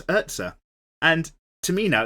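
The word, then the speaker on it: Erza: It's not Ezra, it's Urza.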